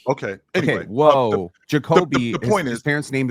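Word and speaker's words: Jakobe: You said Jacob. No, you didn't. That is short for Jacoby. You know what? Jacob E. Okay. Anyway, okay. Whoa, Jacoby.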